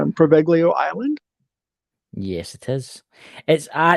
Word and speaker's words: Poveglia: And it's known as, correct me, Chris, if I'm wrong, but it's pronounced Poveglia Island.